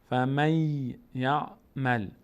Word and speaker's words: فمن یعمل: به جای نون ما یا تلفظ میکنیم اینجا. فمی، فمن به جای فمن میگیم فمی، فمی یعمل، فمی یعمل.